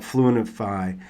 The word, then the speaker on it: Fluentify: So let's talk a little bit more then about Fluentify, and I have it right. Is that right, Fluentify? Yeah, that would be the American pronunciation, I'm sure. Yeah, Okay. us Brits, we would say fluentify.